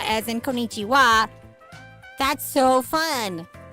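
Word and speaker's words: こんにちは: same W as in Konichiwa. That's so fun. It's funny because the wah that's in what what's in konichiwa is not actually wah. It's ha. But in that spelling it's pronounced wah.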